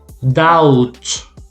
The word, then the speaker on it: doubt: So the B is gonna be silent. So you say that. So you pronounce the T, but not the B. That. Doubt.